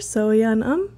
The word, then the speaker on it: So Yun Um: It's So-Yeon Um. First name So-Yeon, last name Um.